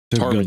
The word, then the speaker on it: ptarmigan: Hold on. Ptarmigan. Look for goose. It is pronounced a ptarmigan.